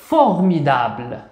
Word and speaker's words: formidable: لاحظوا المقطع الموالي ام مع اي سننطقها مي مي. دي مع ا دا دا. لاحظوا ب ليست أمامها أي حرف من هذه الأحرف، سننطقها ب ب. ثم ال مع أ سننطقها ل. إذا سوف نحاول جمع الكلمة بأكملها فوغ مي دا ب ل. formidable. أحسنتم formidable هو شيء مبهر أو شيء جيد رائع.